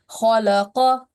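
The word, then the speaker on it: خَلَقَ: Yes, and you were pronouncing this kaf, the soft one, in a thick sound, which you didn't have to, because this is the qaf, which should be pronounced with thick sound, and this is the soft kaf.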